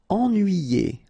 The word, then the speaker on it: ennuyé: Ennuyé. Okay, so first en, then nuit, then yé. Ennuyé.